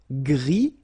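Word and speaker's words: gris: same no no okay G don't pronounce the S but then for the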